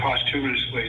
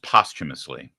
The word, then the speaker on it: posthumously: We're promoting her posthumously to sergeant. Oh, wow. That is the best news I've heard today. Thank you so much. I don't want to nitpick, but it's pronounced posthumously.